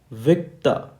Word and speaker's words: Victor: So for letter V, basically the word is Victor, but in phonetics its spelling is VIK. I am underlining this, that means emphasize on this, TAH. So how is it pronounced in phonetics? Victor, Victor, Victor.